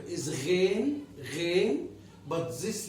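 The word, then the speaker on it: غين: The name of the letter is Ghain, but this letter is called Ain. This is pronounced as a.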